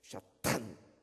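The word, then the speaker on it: שטן: 사탄, 히브리 말은 탄은 이 목구멍 된 소리입니다. 가래 끓는 소리. 할렐루야 장님 한번 해봅시다. 사탄 발음 한번 해봅시다. 샤탄. 인상을 팍 쓰면서 해야 돼요.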